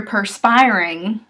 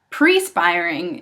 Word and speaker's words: perspiring: ok what if you're perspiring sweating evidently pre spiring is commonly used perspiring go and perspire at